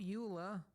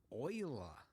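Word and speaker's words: Euler: a utilities rotation rotate not Ula Oiler that yes I know they went with the weird pronunciation I think it was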